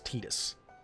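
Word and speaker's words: Tidus: I almost said Titus, it's Titus. I know I've already said Titus. The correct pronunciation now is Titus. I'm going to try to say Titus. I've been calling him Titus for years.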